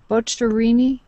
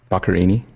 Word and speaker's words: Boccherini: Boccherini? Boccherini.